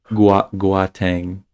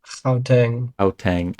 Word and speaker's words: Gauteng: Here. Gauteng. Gauteng. Okay. Gauteng. I don't know where you're getting a hard G.